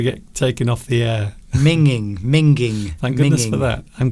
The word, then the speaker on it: minging: Minging. Thank goodness for that. I'm glad you pronounced it correctly.